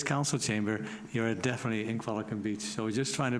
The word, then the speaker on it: Qualicum Beach: Kevin, and I know some people wonder why when somebody says Qualicum, I correct them and say it's Qualicum Beach.